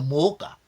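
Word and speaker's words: Mwoca: Banya Mooka. Donc le Mooka s'écrit avec M-W-O-C-A.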